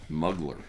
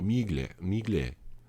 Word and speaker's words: Mugler: So, Mugler.